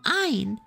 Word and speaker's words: Ein: The name Ian is pronounced in German, similar to Heinz. Oh, Ein!